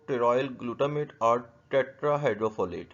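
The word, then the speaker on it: pteroyl: Vitamin B9 भी कहते हैं, विटामिन BC भी कहते हैं, विटामिन M भी कहते हैं, लेकिन और जो है टेरॉयल, P साइलेंट है, टेरॉयल L ग्लूटामेट भी कहते हैं फॉलिक एसिड को।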